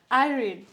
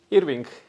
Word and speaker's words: Irving: Irene. Wait, am I pronouncing it right? Irving. Irving. Yeah. Irving, okay.